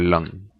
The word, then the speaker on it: lang: In Norwegian words is mange or lang.